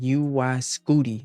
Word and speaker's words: UY Scuti: So, Young Thug just dropped his brand new album, UY Scooty. That's right. That is how you pronounce it.